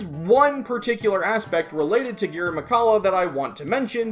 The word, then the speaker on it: Girimekhala: It's Girimekhala, not Girimekhala.